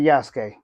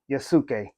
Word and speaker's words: Yasuke: Now, notice I said Yasuke. Some people, you might hear them say Yasuke, which I'm not mad at you if you